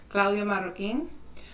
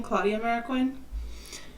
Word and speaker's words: Claudia Marroquin: I'd like to begin by stating my name as it is pronounced by my parents, Claudia Marroquin. I do, however, accept the common pronunciation, Claudia Marroquin.